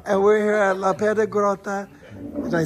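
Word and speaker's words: Piedigrotta: And we're here at La Piedra Grotta. Did I say it right? La Piedra Grotta.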